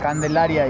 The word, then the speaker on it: Candelaria: How do you pronounce it? Candelaria.